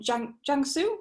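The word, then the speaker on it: Jiangsu: on to xiao tang so you are from jungsoo is that how you say it yeah yeah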